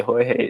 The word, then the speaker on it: Jorge: Then how did you get the name Jorge? Jorge is a name of Spanish descent. I spell it with an H. Wow, so it actually isn't the D&J show. D&H show.